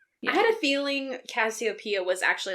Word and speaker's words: Cassiopeia: But the mom was, like, Cassiopeia? Is that how you say her name? Cassiopeia.